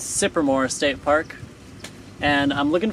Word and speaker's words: Cypremort: everybody i'm here at i think it's pronounced supermoor state park and i'm